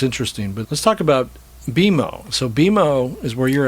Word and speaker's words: BMO: people will say BMO, BMO, and right, I always have to kindly say it's BMO, and I'm sure you've.